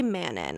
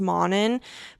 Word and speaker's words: Manon: I say Manon. I think Sergey Mass says it's pronounced Monin, but it's kind of like her.